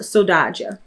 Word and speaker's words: saudade: It's pronounced saudade, which I believe is a Portuguese term, but it's like the missing piece, what you've been missing.